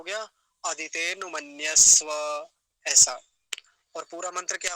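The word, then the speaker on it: अदितेऽनुमन्यस्व: उच्चारण सीख रहे हैं, और उच्चारण वैसे ही किया जाता है जैसा लिखा होता है। तो क्या बोलेंगे, अदिते नुमन्यस्व, अदिते नुमन्यस्व, अनु नहीं बोलेंगे, अदिते नुमन्यस्व ऐसा बोलेंगे।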